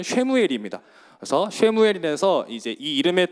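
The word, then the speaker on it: שְׁמוּאֵל: 있습니다 그래서 오른쪽부터 읽는데 사무엘을 히브리어를 발음을 하면 쉐무엘입니다 그래서 쉐무엘이 돼서 이제이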